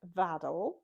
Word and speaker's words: Vaddel: Okay, I think that is everything I need to tell you about Vaddel. Vaddel is a Shetland word for a kind of seed pool, rhymes with paddle.